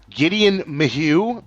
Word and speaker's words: Gedeon Maheux: Gedeon Maheux. Did I pronounce that correctly, Gedeon?